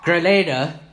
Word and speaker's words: Grenada: Grenada there in LA Grenada sorry I always mispronounce that he gets mad Grenada and Grenada the country in the Caribbean not not the city in Spain anyways he lives in